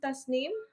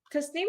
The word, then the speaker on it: Tasnim: the tazm or ta like how's that properly pronounced? Um, tasnim if you want to pronounce it with like the accent and everything, but tasnim is pretty fine.